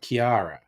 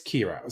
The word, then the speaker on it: Ciara: Now that looks like Kiara, but it's Kira.